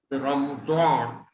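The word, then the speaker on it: رمضان: आता काही लोक ह्याचा उच्चार थोडासा द सारखा करतात आणि इंग्रजीमध्ये स्पेलिंग लिहिताना आपण रमदान असं स्पेलिंग लिहिलेलं तुम्हाला आढळेल, पण ऍक्च्युअली त्याचा द हा उच्चार नाही आहे. ऍक्च्युअली उच्चार जो आहे तो रॉ असाच उच्चार आहे आणि बऱ्याच शब्दांमध्ये हा येतो.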